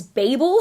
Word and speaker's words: Babel: She pronounces it as Babel. I pronounce it as Babel. The reason why I pronounce it as Babel is because I associate the word Babel with the term babbling.